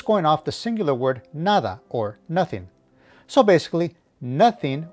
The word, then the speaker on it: nada: It is in the 3rd person singular future tense because it's going off the singular word nada or nothing.